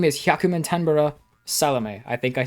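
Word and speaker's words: 壱百満天原サロメ: Plus, who has a really difficult name to pronounce. The name is Hyakumantenbara Salome. I think I said that right. Hyakumantenbara Salome.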